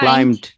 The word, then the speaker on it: climbed: তাহলে কি হচ্ছে, মূল ওয়ার্ড কিন্তু আমার ক্লাইম, যেখানে এম বি পাশাপাশি আছে এবং বিটা শেষের ওয়ার্ড হিসাবে আছে, ফলে এই বিটা কিন্তু সাইলেন্ট হয়ে যাবে।